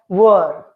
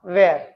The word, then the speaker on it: were: It's a helping verb. We have already discussed it that it is pronounced as were and not where.